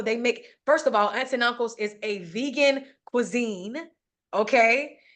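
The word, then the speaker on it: Aunts et Uncles: aunts and uncles and it's spelled aunts and then the and is French it's ET and then uncles so it's aunts and uncles and it's in Brooklyn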